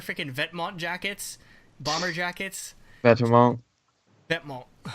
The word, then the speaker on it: Vetements: Vetements. That's how they pronounce it. What the heck? Yeah. It's not even how you pronounce it in French.